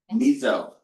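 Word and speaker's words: meso: Last vocap word associated with this miso like the soup or pronounced that way anyway.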